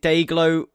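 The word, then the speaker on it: Day-Glo: yeah it just i is it day glow it day yeah you're right actually um so if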